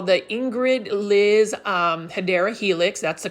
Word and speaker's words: Hedera Helix: For those that are new to the channel, I say Hydra Helix and correct myself to Hedera Helix because for the longest time I thought that was the way to pronounce it.